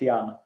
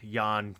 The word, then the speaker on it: Jan: is ian and jan is easy it's ian okay and it's divided